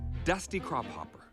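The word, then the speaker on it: Dusty Crophopper: But you're mispronouncing it slightly. I am? Yeah, it's actually pronounced Dusty Crop Hopper. Dusty crop hopper. Yeah, it's Scandinavian.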